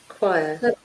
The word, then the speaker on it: choir: choir, Choir.